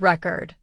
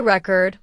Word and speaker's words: record: For example, let's take the word record. If you say record with stress on the first syllable, it's a noun, like a music record. But if you say record with stress on the second syllable, it becomes a verb. Like I record a video.